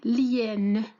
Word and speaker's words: hyène: Aussi, nous avons H muette, ou bien l'hyène.